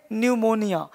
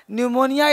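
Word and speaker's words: pneumonia: पी नहीं पढेंगे pick हटा दो या पढेंगे न्यूमोनिया न्यूमोनिया जाकर एंजॉय को न्यूमोनिया तो शुरू होता है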